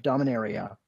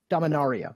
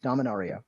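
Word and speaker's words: Dominaria: pre-ordered a box of domina reah Domon aria sorry Domon aria we figured out that's the way to pronounce him uh you could pick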